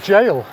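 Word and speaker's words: gaol: old prison yeah the door how would you pronounce that I do not know p-a-o-l oh Jail jail yeah um anyway so that's on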